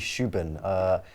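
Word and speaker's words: Rúben: Well, apparently his first name, I was watching a video in European Portuguese. Apparently it's actually Shuban.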